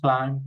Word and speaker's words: climb: Okay, this is very easy because we don't pronounce the last letter. We say bomb, climb, come, cram.